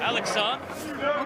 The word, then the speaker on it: Alexandre: And Alexandre is the pronunciation in French, because he's from Canada, is earning himself more playing time, presumably moving forward, irrespective of the outcome of this match.